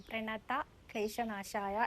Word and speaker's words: പ്രണത ക്ലേശനാശായ: പ്രണത ക്ലേശനാശായ എന്നാണോ എന്നാണ് നിതിൻ മേനോൻ ചോദിച്ചിരിക്കുന്നത് പ്രണത ക്ലേശനാശായ എന്നാണ് കേട്ടോ പ്രണധ അതാണ് അതിന്റെ കറക്റ്റ് ഉച്ചാരണം വരുന്നത് കേട്ടോ സുനിത എന്ന അഭക്ത വച്ചിരിക്കുന്നത്